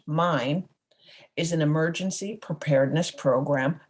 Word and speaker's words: MYN: hits map your neighborhood m-y-n pronounced mine is an emergency preparedness